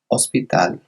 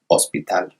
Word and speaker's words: hospital: The same goes with hospital. Another example of that silent H.